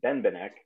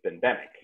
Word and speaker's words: Benbenek: I had been doing, which was Benbenek, Benbenek, Benbenek, Benbenek, so I couldn't get it wrong, and then that was wrong, so it's Benbenek.